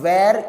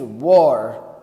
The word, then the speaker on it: were: It is not where, it is were. When you say were, we have to read it as were.